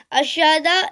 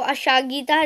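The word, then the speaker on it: aşağıda: अशादा, इसके प्रोनाउंसिएशन में ये जो जी है इसको अशागीता नहीं बोलेंगे, इसको अशादा बोलेंगे।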